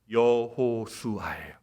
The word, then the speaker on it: 여호수아: 예수라는 뜻은 뭡니까 여러분 히브리 말로이 예수를 발음하면 여호수아에여 여호수아 여러분 아시죠 구약의 여호수아 가나안 땅까지 이스라엘 백성들을 영도 있던 그 여호수아는 그 히브리식 발음을 헬라식 발음 그리스 그리스식으로 발음하면 예수가 되는 겁니다 그런데 여호수아와 예수는 똑같은